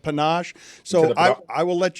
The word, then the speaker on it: panache: I have said the word panise to describe someone like Deion Sanders instead of panache.